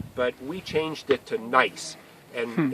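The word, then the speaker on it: gneiss: we changed it to nice and in German you learn when it's e i that's always pronounced I so it's nice not nice nieces like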